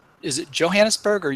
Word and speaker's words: Johannesburg: Am I pronouncing it right? Is it Johannesburg or Johannesburg? Johannesburg. Johannesburg.